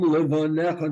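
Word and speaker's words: לבניך: Vishinantam Levanecha, not Levanecha. You don't pronounce that yud.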